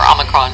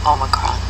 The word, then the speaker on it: Omicron: And they said Omicron or Omicron? There are two different pronunciations that people in the English language pronounce it, but I would go with the original Greek, which I believe is Omicron.